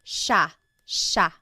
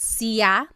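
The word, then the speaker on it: siya: but it's actually pronounced sha sha. There are some regions in the Philippines that might pronounce it sia, but for the most part in the central Luzon Tagalog speaking areas, it's pronounced sha sha.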